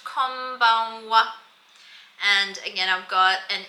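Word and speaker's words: こんばんは: It's pronounced konbanwa.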